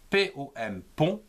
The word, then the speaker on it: pompon: Il s'écrit comme cela, P-O-M, pont, P-O-N, pont.